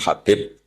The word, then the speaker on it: Habib: Ada yang nulis Abi Abdurrahman Habib Asulami. Itu di harakatnya kitab itu ada yang nulis khubab. L yang benar. Oh nggih. Yang benar itu bacanya habib.